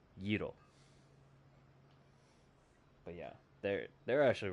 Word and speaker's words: gyro: spelled g-y-r-o and it looks like it would spell it would say gyro but considering you know language barrier it's actually pronounced Giro but yeah they're they're actually really good because